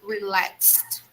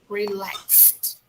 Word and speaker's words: relaxed: guys we'll see that how to pronounce the word relaxed we need to put a sound of t the end of the word okay so we we should say relaxed relaxed okay we should pronounce